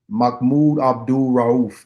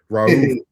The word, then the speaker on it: Mahmoud Abdul-Rauf: The basket Sheriff No no no no no uh It ain't Sheriff. It's it's um um Mahmoud Abdul-Rauf. That's it. Raouf.